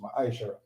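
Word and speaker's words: מעשר: verse 8 to 10, means tenth in the Hebrew and is pronounced ma'ashara.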